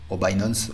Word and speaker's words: Binance: cryptoonnaie au monde c'est binance binance si vous voulez le prononcer à l'anglophone il va falloir créer